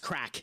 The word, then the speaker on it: craic: Crack is how it is said. Yeah. Yeah. C R A C is how it's how it's pronounced.